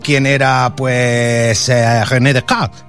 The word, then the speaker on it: René Descartes: o quién era pues René Descartes, que te lo pronuncio en francés porque soy yo muy francés, ¿no?